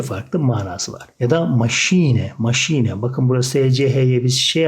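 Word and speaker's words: Maschine: manası ile iki farklı manası var ya da maşine maşine bakın Burası EC7 şey harfine koyuyoruz Machine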